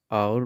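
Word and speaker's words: hour: इनसे पहले द लगेगा एथ और नाइंथ में एट साइलेंट है इसलिए आवर पढ़ेंगे तो आवर में आ जो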